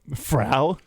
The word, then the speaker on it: Frau: So Frau? rhymes with cow.